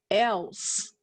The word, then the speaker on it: else: here else let's set else i don't hear that e in the final position we would code it